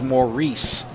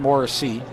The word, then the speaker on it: Maurice: So actually, pronunciation I'm told is Maurice, not Morrissey.